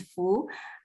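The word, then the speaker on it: 蝠: The pronunciation of the bat in Chinese is fu.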